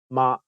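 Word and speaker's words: 媽: funny mistake in cantones mother is ma and horse is ma imagine someone introducing his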